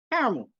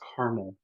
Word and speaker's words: caramel: Most Americans are like, oh, it's caramel. That's caramel. It's literally C-A-R-A. not CAR. Or hang on, how does some Americans say it? Caramel? Caramel, just drop the second A.